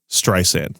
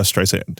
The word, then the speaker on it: Streisand: You might have been a little heavy on the second S. It's pronounced Streisand. I feel like this is that scene with Bradley Cooper in that Paul Thomas Anderson movie, Streisand, not Streisand.